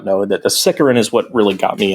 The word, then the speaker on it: Sicaran: Sicaran or Sicaran? I pronounce it Sicaran.